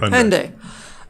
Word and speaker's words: Hyundai: How do you pronounce that? I never say it out loud. What is it? The car company? Hyundai.